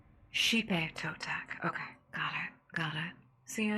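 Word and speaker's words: Xipe Totec: I'm gonna see about because it's Xipe, which I thought kind of had like a breathy kind of sound to the pronunciation, if that makes sense. Oh, it's she. Hipe Totec.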